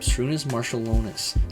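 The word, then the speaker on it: Šarūnas Marčiulionis: Shrunis Marshalonus is how you pronounce his name.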